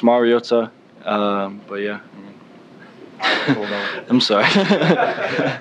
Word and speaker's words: Mariota: you um Marcus but the last name is Mariota um I don't know if if it's just for for the Polynesian culture you always got to enunciate the vows and uh so it's Mariota um but yeah I'm sorry so in a